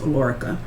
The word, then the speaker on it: Alorica: Okay, so with the one that I'm actually with now, the Alorica is what it's pronounced, Alorica.